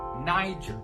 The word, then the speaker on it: Niger: And do not use the G in the sound like a G. In fact, we pronounce it more like a J. So when you put it together, it sounds like Niger.